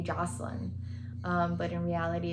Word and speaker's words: Jocelyn: to be very specific my first name is actually pronounced joseline joseline the reason why joseline stuck is because all my teachers pronounce my name joseline instead of joseline and it just kind